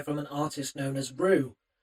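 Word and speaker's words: Rouwe: So if you wanted to look them up on Bandcamp, which you should do, it's spelt R-O-U-W-E, R-O-U-W-E, but it's pronounced Rue.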